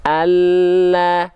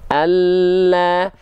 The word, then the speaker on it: Allah: Allah, nampak bagian lidah lebih penuh menyentuh ke langit-langit. Allah, Allah, itu lam. Tapi kalau huruf L pada